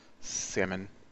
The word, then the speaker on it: salmon: uh uh salmon salmon that's one of those words it's got an L in it but I don't think you really pronounce the L salmon and uh uh they're